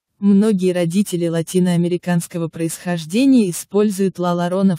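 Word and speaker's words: La Llorona: это и это три ла ла рона произносится лойола ровная лай урона с ударением на предпоследнем слове и легким грассе раване им e455 4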